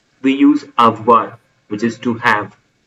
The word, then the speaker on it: avoir: We use avoir which is to have a v o i r pronounced as avoir.